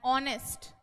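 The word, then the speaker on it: honest: बता दो भाई फटाफट फटाफट एन ऑनेस्ट एन ऑनेस्ट person H जो होता है ना वो साइलेंट रह के इस ओ को प्रभावी कर देता है इनके साउंड के अनुसार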